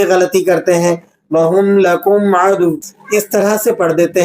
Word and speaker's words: عدوٌ: Spelling کے ساتھ اسے سنیے گا۔ عین زبر ع، دال واو دو پیش دوں، واو دو پیش ون، عدوٌ۔ جب آپ اس کو